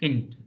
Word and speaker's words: Kind: K-I-N-D, kint. D becomes T.